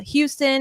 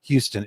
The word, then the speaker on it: Houston: And just for correct pronunciation, Keith, you grew up not far from Houston. Is it pronounced Houston or Houston? You say Houston, but you know how folks in Southeast Texas, they say Houston.